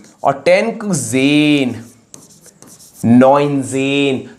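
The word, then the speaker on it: neunzehn: आन 19 क्या था 10 + 9 तो क्या हो जाएगा नाइन पहले बाद वाला न और 10 ज़ेन नजेन तो ये है 19 तो चलिए अब 20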